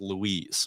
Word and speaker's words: Lois: were like whoa that lady's name is Lois Lane it's pronounced Louise ah yeah given the